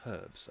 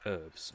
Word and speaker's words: herbs: by a vowel, so it's a flowing sort of sound, herbs, as opposed to, well, the Americans, they call it herbs. And completely the only people in the world who decide to have a silent H for whatever reason.